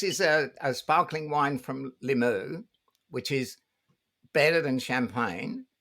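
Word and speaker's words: Limoux: it so remember that limu wow um where is that is it in france yeah l-i-m-o-u-x i say limu as if i know my french pronunciation but yeah yeah yeah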